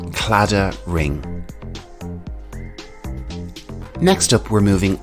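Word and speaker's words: Claddagh: a bit strange because it is an anglicized version of a celtic irish word cladda ring next up we're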